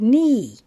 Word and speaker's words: knee: NE is the word knee K is silent you only hear the N clock you only hear